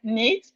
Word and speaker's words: knit: Nit the K is silent knit.